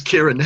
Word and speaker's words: Ciaran: This is Ciaran. My name is Irish. It's spelt weird.